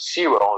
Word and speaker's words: Sewell: Now, don't forget that the name Sewell, you guys might pronounce it differently than in the United States, but I pronounce it Sewell is the way I see it.